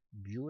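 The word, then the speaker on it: μ: 에다가 마찰 갯수 위험한 곱해 주면 되니까 이건 뮤 라고 읽습니다 나찰 겠어 뜻이에요 미코 쌓인 남자가 됩니다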